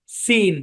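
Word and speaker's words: scene: পড়ছিলাম মনে আছে স্ক্যান এস সি একসাথে থাকলেই যে সি সাইলেন্ট হবে ব্যাপারটা এরকম না পরে ই অথবা আই থাকতে হবে চেক মারতে হবে ভাই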